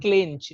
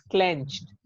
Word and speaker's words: clenched: This is नॉट क्लिंच, इट इज क्लेंच्ड।